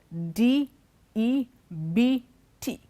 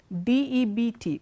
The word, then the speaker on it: debt: look at these words d e bt d eb t nam la cara de la vega it's not depth it is debt the b is silent okay we don't say